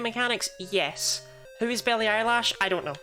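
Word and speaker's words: Eilish: it it is it's not spelled eyelash but it is pronounced eyelash T to keep the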